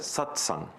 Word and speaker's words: Satsang: But the word is not there as really, it is also a combination of two terms, but in Sanskrit, it's pronounced as Satsang.